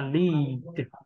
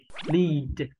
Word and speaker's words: lead: Sau khi quen miệng rồi cố gắng bỏ đi âm ở phía sau. Thế là chúng ta sẽ đọc được với phụ âm cuối như thế này. Chúng ta đọc là lead, lead, được không ạ?